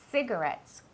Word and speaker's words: cigarettes: Some cigarettes. Cuidado con la pronunciación de esa palabra. No es ci, es C. La C y la I siempre tienen un sonido que es como si fuera una S, ¿vale?